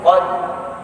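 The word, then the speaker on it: قدر: ya, atau am, ya, hati-hati bacanya jangan inna anzalnahu fi lailatul qadr. Jangan. Tapi kita harus berusaha membawa rohnya. Qadr, qadr, qadr. Minimal ada getaran.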